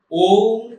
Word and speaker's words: ओम: नहीं सकते और हा ओम शब्द का आपको करना पड़ेगा और आपको महसूस करना पड़ेगा कि ओम शब्द जो है यह तीन ध्वनियों से निकला हुआ है आ उ और मा अर्थात इसका सही उच्चारण